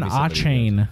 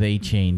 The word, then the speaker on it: Achane: Devon Achane.